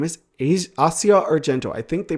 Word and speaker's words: Asia: Namely, this character's name is Asia Arento. I think they pronounce it Asia in the dub. If you know anything about the actual Assia Arento, her name is pronounced Assia if I remember correctly.